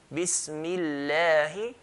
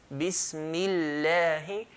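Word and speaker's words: بسم الله: First letter has a sukoon, second letter has a fatha. So Bismillahi.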